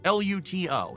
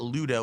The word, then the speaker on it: Luto: L U T O. Why does he say such a hard T? Well, because then people know it's a T and not a D. Not Ludo with a D, but L.